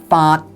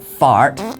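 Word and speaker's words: 發: This character is pronounced fart in Cantonese. No, not fart, but fart. Completely different. And it is an entering tone, which would fit into the oblique tone category that is required by the structure of this poem. Yet in Mandarin, it is pronounced fa, and would thus be a level tone which would go against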